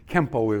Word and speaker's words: Kenpo: know rookie Kempo right Kenpo is the Japanese pronunciation for the Chinese word you know or laws